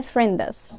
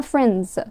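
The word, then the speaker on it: friends: الكلمه اللي قدامي دي الكلمه دي ما بنقولش عليها فريندس اسمها ايه اسمها فرينز صح فرينز فرينز طب جميل ليه اصلا قلتها فرينز راحت فين الدي ساوند او بقى الخدعه هنا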